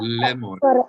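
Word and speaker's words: לאמר: In that video, we talked about how when the letter Aleph has no vowel associated with it, then the vowel is then the letter Aleph is silent if there's no vowel on top of it or underneath it. So we read this lemor.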